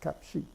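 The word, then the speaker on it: 값이: silent, pays off, because here the shiot actually gets pronounced. This is kapshi.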